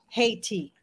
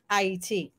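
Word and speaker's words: Ayiti: of War they change the name or the pronunciation of the name to Haiti so everything is about making you hate IET so you will see me using the you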